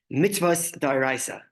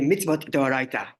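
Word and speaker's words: מצוות דאורייתא: The first category is, sorry, this is going to be an Ashkenazic pronunciation, mitzvos d'oraisa. If you're going to do a Sephardic pronunciation, it's going to be mitzvot d'oraita, which translates as biblical mitzvahs.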